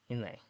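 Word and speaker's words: Inlé: Okay, it depends on if it's pronounced Inel or Inlay. Uh, Let me see. We can figure out pronunciation. Here we go. Inlay.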